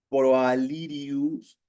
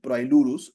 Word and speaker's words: Proailurus: Es el proirius. Proailurus, lo he pronunciado mal, disculpen. Proailurus.